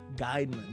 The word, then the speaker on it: Geiman: we experience so today we have Mr guideman wait that pronounced that correctly yes you did sir thank